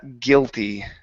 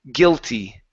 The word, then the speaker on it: guilty: okay now um it's it's difficult for Portuguese speakers to be able to pronounce that e sound after a t so on this word you were saying guilt okay and you were not pronouncing the E okay that e needs to jump out so it's guilty guilty uhhuh one more time guilty guilty good so whether or